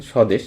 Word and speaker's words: স্বদেশ: অর্থাৎ বফলা যখন শুরুতে বসবে তখন দেখুন তো বফলা উচ্চারণ হয়েছে কি হয়নি? অবশ্যই হয়নি। দেখেন স্বদেশ।